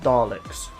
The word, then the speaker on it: Daleks: It's like, it's just Daleks. Like the E is silent.